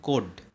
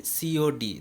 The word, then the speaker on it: COD: We don't say code, we say COD, that stands for cash on delivery.